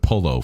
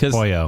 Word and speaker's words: pollo: don't like the pronunciation of pollo. I'm going to pronounce it polo for the rest of the No, show.